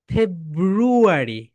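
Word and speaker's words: February: উচ্চারণ হবে বল ফেব্রুয়ারি এখানে কিন্তু এরকম করতে হবে মাই ডিয়ার সোলজারস ফেব্রুয়ারি উপরের দাত নিচের ঠোটের সঙ্গে উপরের দাঁত নিচের ঠোটের সঙ্গে অবশ্যই টাচ করবে বল ফেব্রুয়ারি ফেব্রুয়ারি ফেব্রুয়ারি এখন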